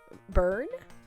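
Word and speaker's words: Byrne: it how do you how do you say that b y r n e burn uh gave the order I would assume burn okay that's kind of what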